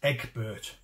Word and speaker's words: Egbert: get it wrong so Egbert is spelt a DC G so it's Eggbert if you will and here he brought